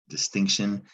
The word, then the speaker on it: distinction: It's pronounced shun, but it's not spelled that way.